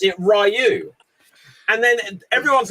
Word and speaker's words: Ryu: ruin that for you yeah the the actual pronunciation is Ryu however the script for the 9 movie specified